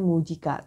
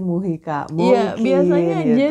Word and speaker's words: Mujica: presiden ini namanya Jose mujica tulisannya berdoa mungkin bacanya Jose Muhyi baca hal memang benar